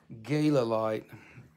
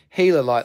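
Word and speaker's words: Healerite: dollars for karen doyle gala light you can say gala light if you want but that's how that's how it's spelled but it's healer light like the gila monster you'll never forget it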